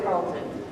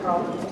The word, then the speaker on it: Tarleton: In my search to serve others, I found my way to Tarleton, but not as a student, as an employee.